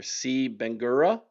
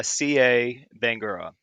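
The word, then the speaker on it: Sieh Bangura: but then uh and you're going to have to help me with the pronunciation here. C Benura, maybe it it's uh CA Bangora. Yeah.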